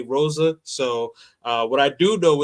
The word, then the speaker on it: Rosa: In English, we say Rosa. So what I do know is that in Portuguese, the R's are pronounced like H's.